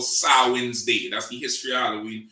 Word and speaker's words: Samhain: is spelled s-a-m-h-e-i and i think but it's pronounced sarwin's day right so let's get that first and